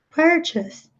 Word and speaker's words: purchase: Então a gente imagina que se mantém a pronúncia, mas não, aqui já muda completamente, é purchase.